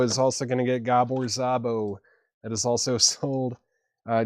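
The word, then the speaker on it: Gábor Szabó: Looks like I gave Chad some uh pronunciation notes there. Gabbor Zabo. Gabbor Zabo is 15 bucks with Bob James, Jack De Janeette, Billy Cobb, Ron Carter, and Ralph McDonald.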